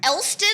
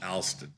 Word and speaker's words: Alston: Elston, like the street? No, Alston. Oh, Alston.